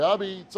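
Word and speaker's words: apizza: New haven में, इसे सिर्फ पिज़्ज़ा नहीं कहा जाता है, इसे "ए-बीट्ज़" "ए-बीट्ज़" टेलर, वी/ओ: "ए-बीट्ज़!" इसे एपिज़ा लिखा जाता है लेकिन उच्चारण "ए-बीट्ज़" होता है और न्यू हेवन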